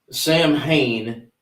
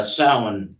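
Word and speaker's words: Samhain: So tonight's topic Sam Hayne, you know, not proper pronunciation. No. Uh sin is the is the corre the correct pronunciation.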